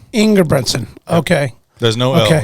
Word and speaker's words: Engebretsen: Engebretsen. Engebretsen. Okay. There's no Okay. L. Everybody wants to put an L in it, but there's no L.